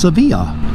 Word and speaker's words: Savilla: road there hi i asked them how to pronounce it and they told me it was pronounced sevilla so i'm going to go with their pronunciation you can do with it what you will you could call it